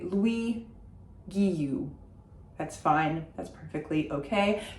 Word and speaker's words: Guilloux: If you have an English or American accent, I would say Louis Guilloux. That's fine, that's perfectly okay. Just don't pronounce the L's.